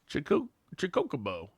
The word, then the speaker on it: Chocobo: Chew, as in choose. Co, as in coca. Bow, as in bow. Chocobo.